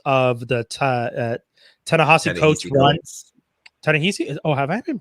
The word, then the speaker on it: Ta-Nehisi: Ta-Nehisi? Oh, have I been pronouncing that man's name the whole time? Yeah. Ta-Nehisi Coates, Mr.